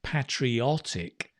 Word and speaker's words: patriotic: Notice the pronunciation, patriotic. That's the adjective.